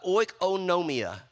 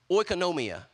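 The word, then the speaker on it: οἰκονομία: the Greek word uh oikonomia oikonomia notice in the middle it says oh no I was like a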